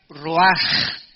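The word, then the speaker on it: רוח: Esta palabra vientos es la palabra hebrea roach, que se pronuncia roaj. La CH en el hebreo se pronuncia como J, y que es la palabra espíritus.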